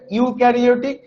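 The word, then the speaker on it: eukaryotic: এটার উচ্চারণটা হবে ইউক্যারিওটিক।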